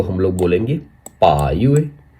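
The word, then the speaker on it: 八月: अगस्त को हम लोग बोलेंगे पायए। पा यूए। पा यूए यानी अगस्त। यहां पर देखिए चाइनीस पिनियन पा यूए। पा यूए। यहां पर देखिए इसका चाइनीस कररेक्टर पा यूए।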